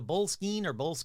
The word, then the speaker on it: Boleskine: That's right, the Boleskine, I already forgot how to pronounce it, I think it's Skene.